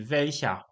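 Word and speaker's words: welcher: Znowu wymawiamy jako a czyli welsia hund i ładny to jest, ale tutaj mamy stopień wyższy, ładniejszy, ponieważ chcemy porównać dwa psy.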